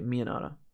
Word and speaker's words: Miyanara: Miyanara, says Skilltree. Okay, Miyanara. I'm going to try and remember that for next time. Hopefully I won't pronounce it wrong. Yeah, Miyanara. Cool. Like the pizza sauce.